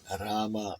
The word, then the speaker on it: Rama: Sheree Rama Yana. The greatest love story ever told. Romeo and Julia, Rama and Janaki. The greatest drama ever told. Drama rhymes with Rama.